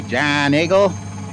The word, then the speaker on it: Giant Eagle: often all right so there's giant eagle or the locals say john eagle that's our main grocery